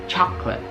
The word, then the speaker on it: chocolate: Banyak yang beranggapan kalau ini 3 suku kata, 3 syllables, tapi sebenarnya ini hanya 2. Jadi banyak sering kita dengar orang bilang chocolate, chocolate, chocolate, chocolate, chocolate, chocolate, ya kan?